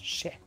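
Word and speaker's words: še: En sumérien, le mot orge se prononce ché.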